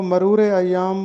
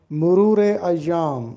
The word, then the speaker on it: مرور ایام: لفظ مرور ایام ہے، مرور میم پر بھی پیش لگا ہے اور رے پر بھی پیش لگا ہے۔ بہت سے لوگ اس کو مرور ایام بولتے ہیں جبکہ درست تلفظ ہے مرور ایام۔ مرور ایام کا مطلب